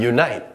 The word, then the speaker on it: unite: Now, we have unite. As mentioned previously, there's a slight y sound at the beginning, so we begin it